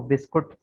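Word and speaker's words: biscuit: इसको बिस्कुट पढ़ा जाता है, बाद में बिस्कुट पढ़ते हैं। बिस्कुट नहीं होता कुछ भी, बिस्किट है, यू साइलेंट है, बिस्किट।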